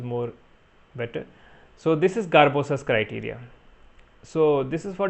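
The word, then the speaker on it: Sgarbossa: last topic garbosa criterias we call it garbosa s is silent so there is elevation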